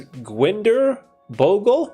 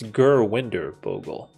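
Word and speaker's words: Gurwinder Bhogal: I don't know I I feel like Chris pronounces his name wrong he says Ginder Bogle but I think it's gerer Bogle but for whatever reason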